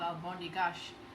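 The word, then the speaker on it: almôndegas: cultures i know actually in portugal the same thing is called albondigash just the way that they pronounce it there there's similar dishes in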